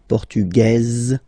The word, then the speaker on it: portugaise: Masculine, portugais, you don't pronounce the S. Feminine form, portugaise, you pronounce this z sound, okay?